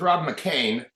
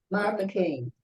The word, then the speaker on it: McKean: Hi, it's Rob McCain. Rob McCain. Yeah, it doesn't look like that, but that's the way Okay. the family always pronounced it.